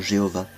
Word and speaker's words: Jéhovah: à prononcer le nom Jéhovah, parce que j'avais appris que ce nom avait été inventé par un moine dominicain au XIIe siècle, qu'en hébreu le son le son J n'existe pas, donc Dieu de toute